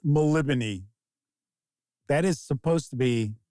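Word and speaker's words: Melniboné: hey don't feel bad because I always said Mel banet El of Mel banet it's maliban that is supposed to be the Flaming says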